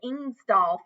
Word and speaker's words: Ingesdaal: They're called the Ingesdaal family, in case you have a little hard time pronouncing that, because it doesn't look like how it sounds.